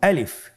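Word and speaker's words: ألف: আমাদেরকে বলতে হবে বলুন আলিফ আলিফে কিন্তু কোন টান নেই আপনারা বুঝতে পারতেছেন আমি যখন আলিফ বলছি এর মধ্যে কোন টান হবে না আলিফ আবার বলুন আলিফ আলিফ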